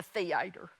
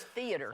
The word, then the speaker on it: theater: Jordan, you need to learn to pronounce, because I said, I won't be in the theater. He said, it's theater. Only 2 syllables in there. It's not theater.